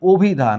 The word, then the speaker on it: অভিধান: ঠিক আছে কিরকম লক্ষ্য করো এইখানে লেখা আছে অভিধান কিন্তু আমরা পড়ছি অভিধান আমরা কি পড়ছি অভিধান কেন এইখানে অ এর পরে পরবর্তী বর্ণের রসীকার রয়েছে এখানে লেখা আছে নদী কিন্তু